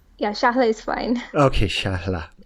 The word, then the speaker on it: Shahla: Did I pronounce that right, Shahla?